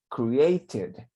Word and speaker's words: created: So, create, que termine en sonido de T, para el pasado, entonces esa ed suena como id. Entonces se pronuncia created.